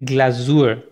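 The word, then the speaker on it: Glasur: चाहिए होगी, जो लास्ट चीज़ है वो होगी ग्लाजूर, ग्लाजूर कहते हैं ग्लेज को, जब भी आप केक बना लेते हैं तो केक के ऊपर आप ग्लेजिंग या आइसिंग करते हैं तो उसको जर्मन में कहते हैं ग्लाजूर, तो वो ग्लाजूर मुख्तलिफ फ्लेवर्स के आप लोग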